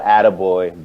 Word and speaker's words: Adegboye: I used to go Adegboye, but that's how you pronounce my original last name. It's Adegboye.